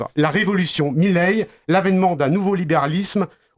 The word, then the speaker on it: Milei: Alors, en espagnol d'Argentine, on prononce Javier Milei. Son nom est d'origine italienne, comme énormément d'Argentins est d'origine italienne. Donc, si on la prononce à italienne, ce serait plus Milei, mais étant donné qu'il